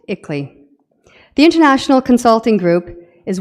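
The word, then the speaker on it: ICLEI: on local environmental initiatives that acronym is pronounced ickley the international Consulting Group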